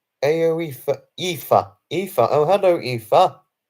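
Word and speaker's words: Aoife: Oh, it's pronounced Aoifa.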